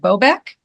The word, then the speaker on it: Bobeck: to welcome our guests today Nancy is it bobc yes okay good I want to make sure I pronounced your your name correctly so we have